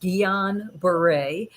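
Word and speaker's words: Guillain-Barré: syndrome which is pronoun it's a french word it's pronounced guillain-barre so or just gbs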